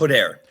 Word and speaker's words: Podair: The book is co-written with Gerald, is it Podair? How do you say it? Podair.